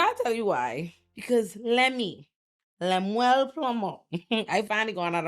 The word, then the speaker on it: Lemuel: Because Lemuel Plummer.